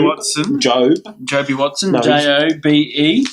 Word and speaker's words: Jobe: What about Joby? I better say his name correctly. Job. Joby Watson? Joby Watson. Job. Joby Watson. No, Jobe.